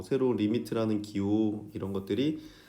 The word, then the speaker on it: lim: 리미트. 읽을 때 어떻게 읽어? 리미트라고 읽어요. 리미트라고 읽고 그러니까 LIM 이렇게 쓰고 x가 어디에 가까워져?